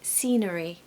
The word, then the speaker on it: scenery: The word scenery has a silent C.